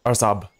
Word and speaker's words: Araçoiaba: And yes, that's how you pronounce it. Araçoiaba.